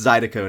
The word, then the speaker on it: Zydeco: Oh, I got roasted so bad for that mispronunciation there. I know, guys. I know it's Zydeco now.